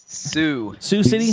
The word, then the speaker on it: Sioux City: Sioux City?